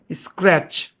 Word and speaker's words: scratch: শুনেন, তারপরে বলি, শব্দের শেষে TCH থাকলে, শব্দের শেষে যদি TCH থাকে, টি সাইলেন্ট থাকে, এটা রুল। শব্দের শেষে যদি TCH থাকে, তাহলে টি সাইলেন্ট থাকে, রুল মনে রেখেন। তাহলে এই শব্দের উচ্চারণ কি হবে? স্ক্র্যাচ। কি উচ্চারণ হবে? স্ক্র্যাচ।